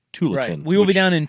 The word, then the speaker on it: Tualatin: saying okay no I I was correcting your pronunciation of Tualatin to tulon we will be down